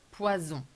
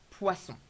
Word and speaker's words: poisson: Very careful with the pronunciation of poisson. Pois, open, s, the snake sound. On, nasal sound, not poison. Very common mistake. Poison means poison. And poisson means fish.